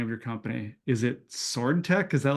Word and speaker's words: SwdTech: so you have to tell me how to pronounce the name of your company is it sword Tech is that like the intent s swd yes